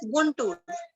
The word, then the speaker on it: Guntur: In 1854, Walter Elliot, the commissioner of Guntur, Andhra Pradesh, visited Amravati and collected several बेटा sculptures. गुंटूर, Guntur, pronunciation is गुंटूर।